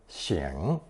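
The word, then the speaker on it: 擤: or wiping one's nose, pronounced third tone xing.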